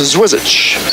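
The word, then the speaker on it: Zwirschitz: Name is spelled Z-W-I-R-S-C-H-I-T-Z. I'm told it's pronounced Zwizic.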